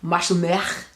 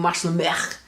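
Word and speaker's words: Mah shlomech: woman, I would say Mashlumech. That's a good example of the guttural sounds. So again, for a guy, it would be Mashlumcha, and for a woman, it would be Mashlumech.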